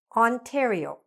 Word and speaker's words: Ontario: So, now let's start with when the letters "on" are actually pronounced like "on".